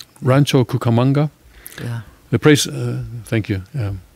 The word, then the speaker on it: Rancho Cucamonga: with a knife was shot multiple times by Ranchero Cucamonga, California homeowner. The press, did I pronounce that right? Rancho Cucamonga?